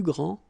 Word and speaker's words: grands: All right, so you don't pronounce this final S. Okay, so one more time. Il est le plus grand, elle est la plus grande, ils sont les plus grands, elles sont les plus grandes.